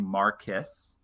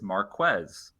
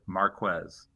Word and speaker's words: Marques: It seemed like everybody was kind of saying Mariss and it is Marquez. So there we go. He pronounces it Marquez.